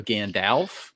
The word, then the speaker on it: Gandalf: with Mackie over here he says it's pronounced Alf not off so Gandalf yeah Gandalf Gandalf baby it sounds way better with the off I that's we changed